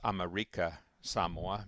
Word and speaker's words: American Samoa: Um, American Samoa, pronounced America Samoa by the Samoans, is a United States territory, and it's been a territory of the United States for 120 years.